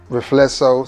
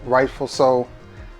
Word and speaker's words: Riflesso: And it is from the house of Trussardi, and it is, some pronounce it Riflesso, some pronounce it Rightful So. We're gonna go with Riflesso.